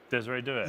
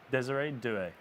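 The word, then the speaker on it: Désiré Doué: Desiree Doué. Yes. Please Desire. please say his name properly. Okay, say it again. Desiree Doué.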